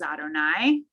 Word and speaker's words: Adonai: We see the name of God that we pronounce as Adonai, right?